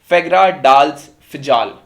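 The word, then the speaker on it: Fagradalsfjall: ये जो वॉल्केनो है इसको बोला जाता है फेग्रा डाल्स फिजाल।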